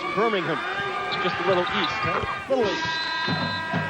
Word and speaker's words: Birmingham: that's birmingham alabama but it's actually birmingham england or probably pronounced birmingham just a little east